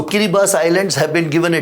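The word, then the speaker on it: Kiribati: I'll say kiras now spelling of that is kirati but correct pronunciation is so kiribas Islands have been given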